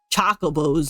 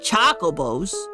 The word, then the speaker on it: chocobos: probably play the mock choco BOS in the finals your pronunciation is all wrong it's chocobos not choos Hough the season